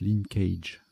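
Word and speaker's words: linckage: Bon, ça se prononce linkage.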